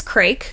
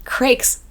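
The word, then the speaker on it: Crayk: So, the boss is Craig, I think is how you pronounce it.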